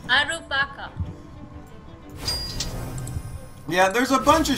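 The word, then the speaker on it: アルパカ: You want to say alpaca in Japanese? Alpaca. It is in fact alpaca. That one's pretty easy. Arupaka.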